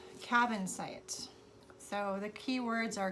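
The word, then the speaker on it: Kyanite: It's pronounced cabin site.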